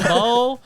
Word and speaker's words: Sambo: Yeah, it's pronounced Sambo. So I guess I'll just do my intro. Yeah. So Sambo is a Khmer name, obviously.